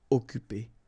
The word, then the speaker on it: occuper: Occuper. You don't pronounce the double C here, so it's really like occupé.